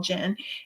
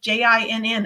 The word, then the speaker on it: Jinn: So I kept on thinking it was gin, like the alcohol gin. And I was like, but they keep on telling me it's spelled Jinn, and I had never even heard of a gin before.